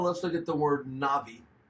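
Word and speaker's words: נביא: look at the word Nabi it's transliterated in a bi or Nabi but the V is often printed B is often pronounced as the V that is the term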